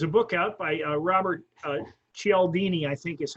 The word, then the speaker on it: Cialdini: Okay, there's a book out by Robert Cialdini, I think is how it's pronounced. It's CH or CIA, but Robert Cialdini.